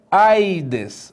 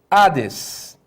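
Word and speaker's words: ᾅδης: E detalhe, não se pronuncia esse iota. Então aqui não é aides, mas sim ades.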